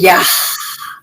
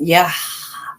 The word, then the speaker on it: Yah: That's how you really say his name. You know, they put all them extra syllables in there and made it Yahweh. Nah, baby, it's Yah.